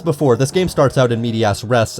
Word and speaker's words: in medias res: So as before, this game starts out in medias res, and I still refuse to pronounce it as race, with all three members